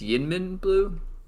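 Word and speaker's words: YInMn Blue: moved out of yemen it's yin min blue they're just making up words it's very it's spelled very strange it's it has multiple capital letters within the name it's confusing they need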